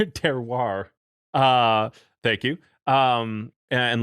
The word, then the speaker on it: terroir: discussion about you know terrar i'm just butchered that but uh terroir uh thank you um